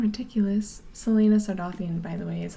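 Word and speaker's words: Celaena Sardothien: your uh well yeah because they sound ridiculous selena sardothien by the way is how you say that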